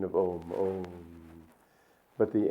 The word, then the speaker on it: Om: correct it should be om that's the correct pronunciation of om om but the m is the the uh is